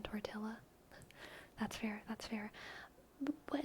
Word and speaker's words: tortilla: As a British person, only psychos pronounce the L's in tortilla.